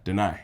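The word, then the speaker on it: Danai: Diana Guerrera? No. Denai. Denai.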